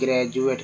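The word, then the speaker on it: graduate: जैसे एक word meaning लेते हैं ग्रेजुएट का, ग्रेजुएट, ठीक है, ग्रेजुएट में डी का उच्चारण जो है ज के रूप में होता है।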